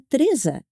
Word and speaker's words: Teresa: you go back but I am not a Teresa I'm a Teresa and you the other